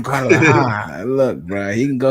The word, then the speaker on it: Guadalajara: Man, That's how you say it, Guadalajara. Guadalajara.